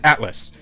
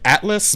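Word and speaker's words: Atlyss: what's it called again Atlas Atlas but it's like the Reon I could remember cuz it's spelled weird it's spelled like a t l y SS um and this is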